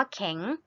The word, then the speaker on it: แข็ง: มา ค่ะ แข็ง ขัน คำ นี้ ออก เสียง ให้ ชัด เจน นะ คะ คำ นี้ อ่าน ว่า แข็ง ไม่ ใช่ แข็ง นะ คะ แข็ง ขัน